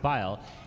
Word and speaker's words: boil: And up next, we have, yes, boil them cabbage, as sometimes it's colloquially pronounced bile.